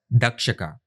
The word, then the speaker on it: Takshaka: In this chapter, let us consider the takshaka as a friend story. We have shown how Indra and his wife Indrani are associated with secretions by sexual organs. Takshaka can also be pronounced as dakshaka.